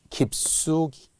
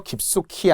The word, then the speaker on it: 깊숙이: 경우에는 2를 적어라 이거죠 깊숙이 자 나지막이 있어요 발음 잘해야 된다는 거예요 깊숙히 아니고 깊숙이 깨끗이 아니고 깨끗이 것처럼